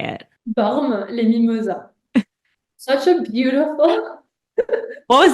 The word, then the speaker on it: Bormes-les-Mimosas: Bormes-les-Mimosas.